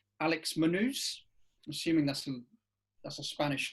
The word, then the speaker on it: Munhoz: Afghan Gastelum is back against a debutant called Alex Munhoz. I'm assuming that's a Spanish name. Well, once again, you've completely butchered a Spanish name. How do you pronounce that? Munhoz.